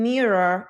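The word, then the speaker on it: Miro: So um as I'm going to move forward so basically so I am using mirror today. I believe that's how you pronounce it. Mirror. M I R O and that's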